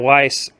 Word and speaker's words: Weiss: Okay, just to make the first correction, Jason Unruhe mispronounced his name. It's Rabbi Yisrael David Weiss, actually.